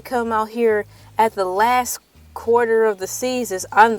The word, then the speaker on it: LA: Thank you so much for coming in today on Taco Tuesday with LA, pronounced like LA, like the city.